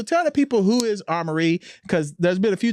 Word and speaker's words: Armourie: Um, and I just went with armory, you know, I just wanted to combine my first initial and my middle name and it pronounced the word armory like your shield and things of that nature.